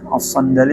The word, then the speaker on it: as-Sandali: Terus kemudian haddatsana pulang Abu Bakrin, haddatsana Abul Fadli Ja'far ibnu Muhammadin as-Sandali, as-Sandali bacanya lah, as-Sandali.